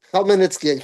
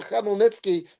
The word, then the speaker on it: Khmelnytsky: Khmelnytsky. Thank you, Shelley. I could never pronounce it properly. Thank you so much. All right. So, Khmelnytsky, that was his name.